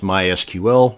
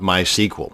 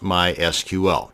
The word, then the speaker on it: MySQL: to create a MySQL database and yes it's pronounced MySQL not my sequel so the next time you're at a dinner